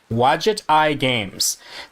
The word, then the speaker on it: Wadjet Eye Games: And I looked this up, how to pronounce it, Wadjet Eye Games.